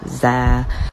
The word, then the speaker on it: zer: asking about my pronouns they are pronounced z zem zaire